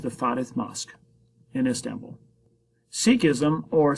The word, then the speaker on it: Sikhism: Sikhism, or Sikhism, as I've heard pronounced Sikhism before, is a new religion that starts in the early modern era.